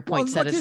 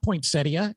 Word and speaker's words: poinsettia: Protect your poinsettas that you helping people out. And you even help them out with the pronunciation. It's not poinsettia, it's poinsetta. Yes.